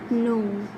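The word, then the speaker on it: know: Like in no. K-N-O-W, no, but we pronounce it no. We don't pronounce K.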